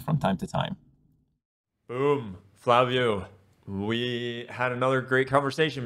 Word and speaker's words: Flaviu: My name is Flaviu. It's pronounced like F-L-A-V-I-U, is pronounced as written.